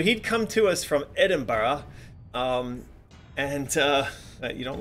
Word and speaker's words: Edinburgh: way I say that Americans always tried to delight say Edinburgh a bit weird yeah because you guys laugh at us when we say it wrong then we overstated so that you can't